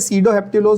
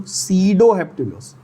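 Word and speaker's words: sedoheptulose: 7 carbon का वैसे सीडोहेप्टिलोज होता है, जिसका स्पेलिंग मैं आपके लिए लिख देता हूं यहां अगर किसी को इंटरेस्ट हो. सीडोहेप्टिलोज, नॉट सूडोहेप्टिलोज. ठीक है?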